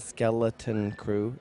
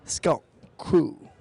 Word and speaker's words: Skeleton Crew: it's a three-syllable name it's not skeleton crew sculpt the COO and you take the L and the T and the C and you crunch it into one consonant so it's sculpt crew oh my god that's two syllables Scott and Chris two syllables we are a two syllable gang sculpt cool one thing